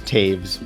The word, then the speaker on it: Taves: pronounce last name no no one will say it right it's taves but it looks like don't worry don't worry